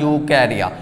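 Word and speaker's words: Eukarya: क्या आएगा हमारे पास यू केरिया उसने सी डाल के आपको ये बताया कि ये स्पेलिंग इसको यूं पढ़ना है यू केरिया यानी सी की आवाज इधर काफ की देनी है आपने तो ये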